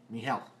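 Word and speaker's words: Mijael: How do you pronounce that? M-I-J-A-E-L? Miguel.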